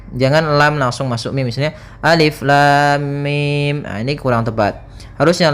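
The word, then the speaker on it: الم: Maka cara yang benar membacanya adalah seperti ini. Alif lam mim. Panjangkan dulu lamnya. Kita ulang kembali. Alif lam mim.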